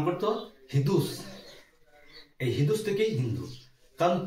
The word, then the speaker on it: হিন্দু: হিদুস এই হিদুস থেকেই হিন্দু কারণ পার্সিকদের উচ্চারণে স এর উচ্চারণ ছিল না ওরা সকে হ উচ্চারণ করতো এজন্য সিন্ধুকে ওরা বলতো হিদুস এই হিদুস থেকেই হিন্দু